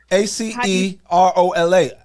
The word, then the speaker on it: acerola: So let me ask you, how do you pronounce this cherry powder? Acerola. Say that again. Acerola.